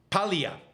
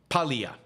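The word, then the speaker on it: Paglia: corrects me it's Camille Pia the g is silent it's p a g l i a but the g is silent Camille Pia uh Alexa says the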